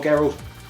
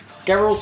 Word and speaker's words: Geralt: beast he's a beast and I wanted more garel am I saying it right Geralt there he's garel he Geralt Gerald gerald Geralt Geralt of Rivia Daryl the Geralt of Rivia get it right I reviewed Geralt